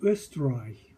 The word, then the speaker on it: Österreich: 자, 오 음나우트니까 으 발음입니다. Aus Österreich.